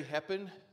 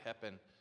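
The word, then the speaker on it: Heppen: my name is heppin that's spelled like the word happen but with an e and so we're pretty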